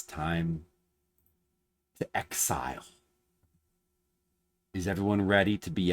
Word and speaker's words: XZR: Originally called XZR, which is like a clever Japanese pun because it's pronounced as Exile.